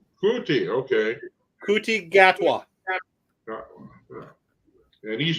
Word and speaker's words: Ncuti: certain pronunciation for his first name, although it's spelled, huh? Ncuti, Kuti. Kuti, okay.